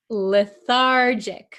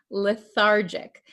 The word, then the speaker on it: lethargic: patient feels weak and can you pronounce this word lethargic remember this is a JJ sound lethargic Okay the patient feels